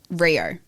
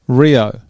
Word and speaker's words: Riou: you said all right how do you say your last name Rio Rio as in like just without but I was gonna say Rio de Janeiro all of that yeah